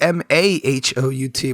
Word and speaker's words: mahout: close it is actually m-a-h-o-u-t but it is pronounced mahout the a sounds like an e in this word for some reason that sexy sexy dictionary